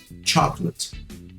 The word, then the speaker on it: chocolate: Então a palavra chocolate em inglês é chocolate. Chocolate. Aí você percebe que eu não falo chocolate, é chocolate. Tem um O aí no meio do caminho que ele está ali só de figura, né?